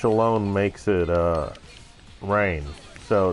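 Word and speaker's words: Rahne: book and they spelled rain r-a-h-n-e now anyone who has been taught proper English Fanatics knows that uh an A and an H actually make a long a sound top it off they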